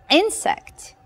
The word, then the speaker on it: insect: In the alphabet, it is I, but in the word, we pronounce this letter as E, E, insect.